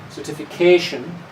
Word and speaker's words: certification: each word certification and here it's a long word so we also have something what's called a secondary stress so the main stress is certification the first one is a secondary stress